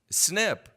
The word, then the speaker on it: SNP: that are true so SNP pronounced snip is a new vasectomy